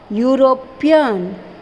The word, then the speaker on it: European: He is a European. Again which sound? Which pronounce sound is you.